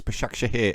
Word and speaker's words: Başakşehir: It's BAŞAKŞEHIR Istanbul.